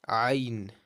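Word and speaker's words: عين: Ain, it's a throaty sound, like a pure throat sound. Your ain is a pure throat sound, right?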